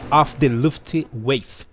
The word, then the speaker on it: Luftwaffe: código do jogo e off the left wii é a pronúncia correta tá mas vamos lá